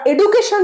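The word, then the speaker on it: education: চ্যানেলে শুনেছ প্লিজ কমেন্টে জানিও আর আর যারা এডুকেশন জানতে তারাও জানিও ভুল হচ্ছে এডুকেশন ড নয়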